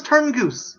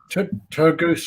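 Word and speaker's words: Turgoose: young boy played by is it thomas turn goose is that how you pronounce his name yeah sasha tur goose i think it's turtle goose yeah and he falls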